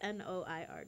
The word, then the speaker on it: noir: We have the Nike Air Vapor, triple, what's N-O-I-R, guys? Noir. It's pronounced Gordon.